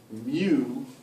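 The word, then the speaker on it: μ: an extra leg and it's pronounced mu like a cow with an accent so this is greek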